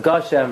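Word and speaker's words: גשם: not send you money you have to pronounce the word correctly you know is it gasham or gasha so Moshe says it's gosham Rebel y'all she said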